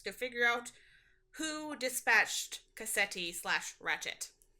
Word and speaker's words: Cassetti: Ratchet was uh Kanti or Ketti? I can't pronounce that name. I'm sorry. You're fine. Cassetti.